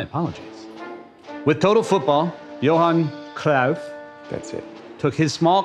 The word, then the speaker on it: Cruyff: It's pronounced Cruyff. My apologies. With total football, Johan Cruyff.